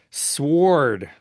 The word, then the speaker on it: Sword: S wo r d sward. I like to pronounce the w and sward.